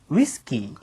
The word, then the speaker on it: ウイスキー: 위스키는 어떻게 발음해 줄까요? ウイスキー.